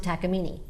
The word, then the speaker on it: Takamine: a Japanese guitar, and they pronounce it takamine. Okay. But I tell people, look, they're well-traveled guitars. It says "Take Mine" right on the top there.